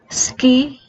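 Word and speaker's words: 好き: sentence first is like Ski take note of the pronunciation we need to drop letter you or Let's make it a silent you And just pronounce s and key so life is Ski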